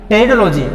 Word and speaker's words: टेरिडोलॉजी: Pteridophytes का अध्ययन करना, टेरिडोलॉजी। ये पी इसमें साइलेंट है ना, पी क्या है, साइलेंट।